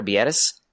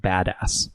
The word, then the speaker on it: Biadasz: Number 23, Tyler Biadasz, the offensive center from Wisconsin. I think it's pronounced badass.